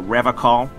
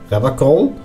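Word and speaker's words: Revachol: He pronounces Revacall with a hard K, unlike other people.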